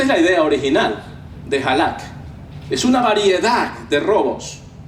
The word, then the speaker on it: halak: No, sigas en el hebreo es halak. Es J-A-L-A y ahí lleva tilde y la K, halak.